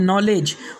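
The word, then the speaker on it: knowledge: इसके बाद का नेक्स्ट रूल है, जब के बाद एन आ जाए तो के साइलेंट होगा। जैसे कि KNOW नो, इसके बाद में है नॉलेज, उसके बाद में है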